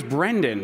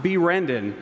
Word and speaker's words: Brendan: my name's Brendan. It's not B. Rendon."